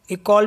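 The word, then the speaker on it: école: Next word है जैसे ECOLE, इसे पढ़ेंगे इकोल मीन्स होता है स्कूल।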